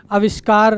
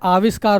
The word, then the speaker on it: आविष्कार: अविष्कार क्या होता है? आविष्कार होता है।